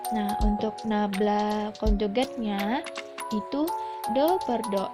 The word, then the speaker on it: nabla: Didefinisikan operator nabla, ini bacanya nabla, dan operator nabla konjugat